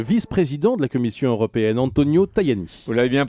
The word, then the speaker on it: Antonio Tajani: Votre invité ce matin, le vice-président de la Commission européenne, Antonio Tajani. Vous l'avez bien prononcé.